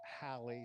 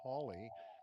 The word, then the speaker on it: Halley: haley and his comets the real name was halley some say holly comet holly named after edmund halley but